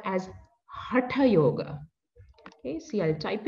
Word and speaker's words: hatha: yoga okay originally we the proper way to pronounce is hatha hatha yoga but it's okay if you have been pronouncing hatha because that's how lot of people have been